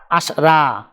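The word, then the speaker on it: عشرة: আরবি ক্রমিক সংখ্যা 10 দেখতে এরকম, উচ্চারণ হবে আশরা। তাহলে 10 ক্রমিক সংখ্যাটির আরবি উচ্চারণ হবে আশরা। ক্রমিক সংখ্যা 11। আরবি ক্রমিক সংখ্যা 11 দেখতে এরকম, উচ্চারণ হবে ওয়াহেদা আশার।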